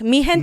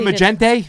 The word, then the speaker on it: Mi Gente: Mi Gente PAC. Mi Gente. Mi Gente. This is spelled wrong. It should be G, but okay. That's not Magente? Yeah, that's, yeah.